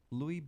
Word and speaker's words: Lewy: have this wrong please forgive me if I mispronounced it Lewy body dementia it's Ellie wy Lewy body dementia and which is sort of like